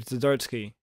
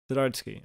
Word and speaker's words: Zdarsky: It's Chip Zdarsky. Zdarsky, right? Like, I forgot the D.